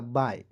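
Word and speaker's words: bye: पे लिखा हुआ है बी वाई ई क्या पढ़ेंगे दोस्तों बी का ब लिखिएगा वाई ई है तो इसका उच्चारण आई के रूप में करेंगे हो जाएगा बाय क्लियर बाय मींस क्या होता है?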